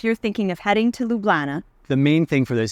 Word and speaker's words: Ljubljana: So let's start with Ljubljana, or as I used to call it, Ljubljana. But the phonetic pronunciation is right here, and it's Ljubljana.